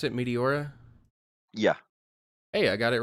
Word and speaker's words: Meteora: don't work hold on is that how you pronounce it Meteora yeah hey I got it right first try